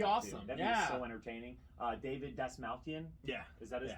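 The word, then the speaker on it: David Dastmalchian: David Dasmalkian. Yeah. Is that how you pronounce that?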